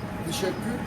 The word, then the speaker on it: teşekkür: Teşekkür Yeşekkür.